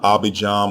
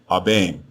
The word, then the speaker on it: Abaim: His name was Abaim, not Abijam or Abiyam. Abaim, and it means father.